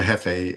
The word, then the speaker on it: Hephae: So it's pronounced Hefe like chief, but it's short for Heestus, the uh the Greek god of blacksmiths and volcanoes and some other some other stuff.